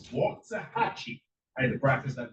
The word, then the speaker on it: Waxahachie: I have to say it right. It's Waxahachie.